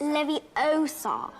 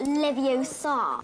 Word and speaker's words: Leviosa: take someone's eye besides you're saying it wrong it's leviosa not livio saw but again like she